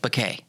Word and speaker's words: Béquet: how do i pronounce it here's how i pronounce it b-u-h hyphen k bokeh did i get that right perfect that works